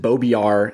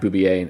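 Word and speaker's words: Beaubier: Aurora Jean-Marie Boubier, and I used to pronounce it Beaubiard, and then I podcasted with Gareth Hopkins, who's from England and who is more cultured than I am, and he informed me it is in fact Boubier, and that's not a dirty word.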